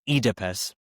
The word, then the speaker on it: Oedipus: And it follows uh Edipus, Edypus in this production, as it's pronounced, Edypus, who is married to Jakcasta, played by Leslie Manville.